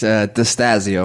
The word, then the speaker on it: Destasio: It's Destasio. Destasio.